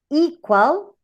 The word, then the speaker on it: equal: For example, in a word as open, open, or equal, or enter, envy, you have the last or final syllable weak. That's why the stress goes in the first one.